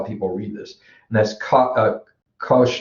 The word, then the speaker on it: cosh: And the way this is pronounced, when we get to it, we'll talk about it a little bit, I guess, or I'm sure we will. And so this is called the cosh.